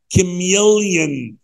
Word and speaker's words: chameleon: خلي بالك من نطقها. Chameleon. Chameleon. نطقها غريب شوية عن كتابتها.